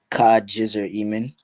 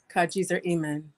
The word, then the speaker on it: Kajzrimem: A lot of people have, trouble getting accustomed to saying my name, but it's Kajzrimem. Kajzrimem.